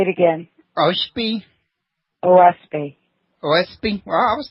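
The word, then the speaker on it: Oahspe: book several times that would be how i pronounce it all planned say it again Oh Spee OSP OSP well I was not very far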